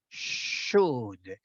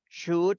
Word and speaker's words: should: So you never pronounce O or L. No L, no O. Should. Should.